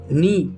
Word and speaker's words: know: नो, यहाँ पर भी के साइलेंट।